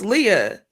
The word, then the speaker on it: Leah: And I remember going to my principal at the time and I was just like, "Look, when you say my name, it is Leah.